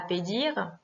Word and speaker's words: pedir: Pédir est un mot s'unissant par une consonne, un R, donc l'accentuation naturelle va être la dernière syllabe, pédir.